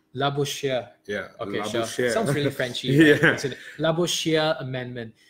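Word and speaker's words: Labouchere: to pronounce calm okay let's see how it sounds like right la bouche here yeah la bouche Shia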